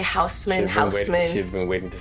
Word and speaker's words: Haussmann: I've been waiting to say Haussmann. She's been waiting to say that. And how do you say it again? Haussmann.